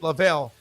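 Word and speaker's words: Leavell: twin he goes he's my first cousin he pronounces it lavel Chuck lvll great musician um I mean he's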